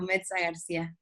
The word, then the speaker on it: Mezza-Garcia: But yes, you pronounce it well, Mezza-Garcia.